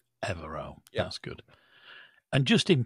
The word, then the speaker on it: Evero: touch and uh and confirmed that the correct pronunciation is evero evero that's good and just in passing about pronunciation